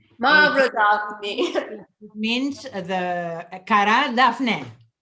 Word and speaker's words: Mavrodaphne: Aglaya, tell me how you pronounce that. Daphne what? Mavrodaphne. Mavrodaphne.